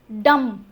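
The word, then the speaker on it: dumb: डम बी का कोई रोल नहीं है।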